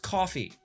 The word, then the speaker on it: CFBY: and Team CFBY, pronounced Coffee.